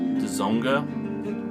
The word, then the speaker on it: Dzonga: Both guys are ex-members of Dzonga, which that's another hard one to pronounce. It's DZO-NGA.